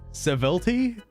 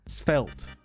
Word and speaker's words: svelte: I don't know what Sevelti? Is it Sevelti? Hold on. Google this. Sevlet. I can't say. How do you say it? Svelte.